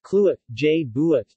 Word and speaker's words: Kluai buat chi: banana in coconut milk tical way but she pronounced Cluett je buit TT is a Thai dessert bananas are simply